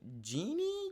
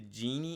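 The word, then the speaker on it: Gini: is Rising once again I think it's pronounced the genie index of income inequality but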